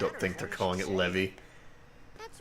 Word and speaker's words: Levi: I hate that it's pronounced Levy. Oh, I hate it. I agree. It's Levi, but it's Levy.